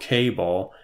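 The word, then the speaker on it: kable: has developed a function called cable, and that's spelled with a K instead of like a C, if you're thinking cable is in like a wire or something.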